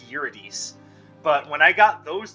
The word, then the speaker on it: Eurydice: idiot euridus i'm pretty sure that's how you pronounce it i know that i know in the game the problems they pronounce it eurydice but i'm pretty sure it's uridis but when i got